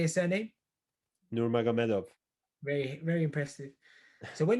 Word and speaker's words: Nurmagomedov: Nate Diaz, Khabib Nurmagomedov. There we go. The latter, right? When he was being defeated by Khabib, right? Say his surname. Nurmagomedov.